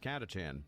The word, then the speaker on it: Catachan: Like fun fact, I actually do know it's pronounced Catachan. I just prefer saying Catachan and also prefer saying it that way because it makes people annoyed.